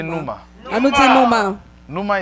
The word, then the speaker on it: pneuma: Say pneuma. On nous dit nous. Pneuma is spelled P-N-E-U.